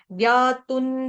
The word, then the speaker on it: ज्ञातुं: तू के ऊपर जो अनुस्वार उसका उच्चारण न होगा क्योंकि आगे द आ रहा है। ज्ञातुन द्रष्टुई, द्रष्टुई च तत्वेन, तत्वेन न पूरा।